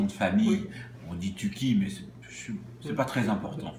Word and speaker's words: Tucki: On dit Touki, mais c'est pas très important finalement.